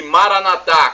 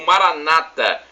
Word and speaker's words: Maranatá: E Maranatá, como dizemos nós católicos, ou Maranata, como dizem nossos irmãos separados, os evangélicos ou protestantes. Não importa a pronúncia, somos todos irmãos e cristãos, e o significado é o mesmo.